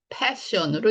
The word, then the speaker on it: passion: 이거는 fashion으로 읽으셔야 되고, 얘는 passion으로 읽으셔야 돼요.